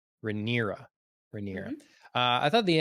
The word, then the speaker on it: Rhaenyra: Princess Rhaenyra? Rhaenyra.